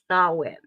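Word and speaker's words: Samhain: in the Celtic religion Festival of thawin spelled Sam ha okay question two origins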